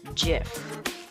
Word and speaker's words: GIF: pronounce GIF?